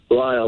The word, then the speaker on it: Lisle: up a thicker sure am I saying it right is it Lyle Lyle that's it alright there's an ass in there but we we won't mention that there you go doctor